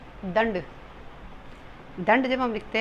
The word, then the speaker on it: दंड: इन 5 रूपों में इसका अनुस्वार का उच्चारण होता है। जैसे आप एग्जाम्पल देख सकते हैं, दंड।